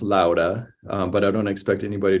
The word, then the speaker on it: Låda: tradition but yeah so Lada is actually technically pronounced Lauda but I don't expect